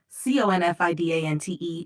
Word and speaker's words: confidant: The word confidant, Confidante, is pronounced confidant.